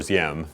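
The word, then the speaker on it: Diệm: And Ngo Dinh Diem, or Diem, is really how his name is pronounced, who was the president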